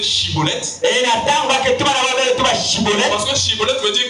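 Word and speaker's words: schibboleth: Si tu es Galadite, prononce le mot chibolet. Et comme il n'arrivait pas à prononcer correctement, il pouvait pas dire chibolet parce qu'il n'était pas originaire de Galate. Cibolette quand il disait cibolette, on dit "Ah non,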